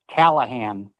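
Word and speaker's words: Cahalan: my my last name my last name is pronounced Callahan thank you thank you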